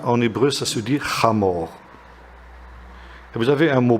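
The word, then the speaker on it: חמור: Âne, en hébreu, ça se dit chamor. Et vous avez un mot proche du mot chamor, en hébreu, c'est le mot chomer.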